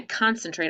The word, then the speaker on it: concentrate: the k sound and this c makes the s sounds and then how about our last syllable what kind of syllable is it it's a vowel a consonant in e so v dash e and that makes the a long and the e silent concentrate wow that's a fun